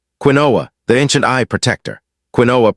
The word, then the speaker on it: quinoa: Quinoa, pronounced quinoa, has been nourishing humans for thousands of years.